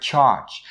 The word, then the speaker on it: charge: So the word charge itself starts with a voiceless ch sound and you say char, char, char. But then its ending sound is a totally different sound.